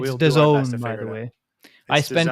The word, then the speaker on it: DAZN: It's we'll DAZN, by the way. I spent an entire afternoon learning how to pronounce it, so it's DAZN.